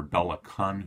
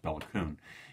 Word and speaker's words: Béla Kun: in Hungary you have the second communist leader Bela Khan who's going to be that's Kon by man is pronounced béla kun it's going to be thrown out by the